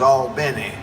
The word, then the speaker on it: Albany: And when we got down there, we found out the pronunciation was Albany.